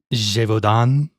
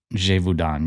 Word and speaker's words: Gévaudan: Gévaudan. Gévaudan, yes.